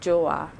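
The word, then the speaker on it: Joowaa: So this is called Joa. Wow. Spell that.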